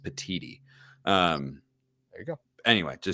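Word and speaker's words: Petitti: By the way, I believe the new Big Ten commissioner's name is pronounced Petiti.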